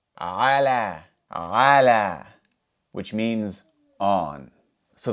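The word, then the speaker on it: على: So, we're going to write an A for the alif maqsurah, which is pronounced like the letter alif. Ah. Ah. So, if we pronounce all of these letters together, we would say ala.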